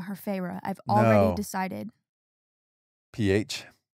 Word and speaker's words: Feyre: It's just like fairy mixed around. It's Feyre. Yeah, but fairy, Yeah.